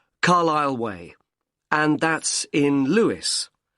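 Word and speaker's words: Carlisle: 45 Carlile Way. Could you spell Carlile for me? Sorry. It's C A R L I S L E. You don't pronounce the S. Carlile Way and that's in Lewis.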